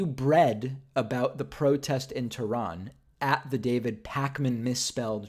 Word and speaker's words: Tehran: said it wrong Tehran so I also hear some people say Tehran but I don't I don't know that that's correct Tehran yeah that's the right pronunciation interviews people asking about